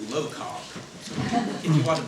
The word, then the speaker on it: LOCOG: just learned a little while ago, is officially pronounced LOCOG.